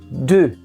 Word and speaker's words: deux: O som é totalmente diferente de qualquer som que a gente conheça na língua portuguesa. Prestem atenção. De. Como vocês podem observar, se escreve com X no final e esse X não é pronunciado.